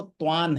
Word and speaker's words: त्वां: वहाँ त्वाम, त्वाम का जो उच्चारण है वो त्वान है, न है।